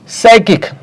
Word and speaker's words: psychic: Psychic. पी से start हो रहा है. साइकिक.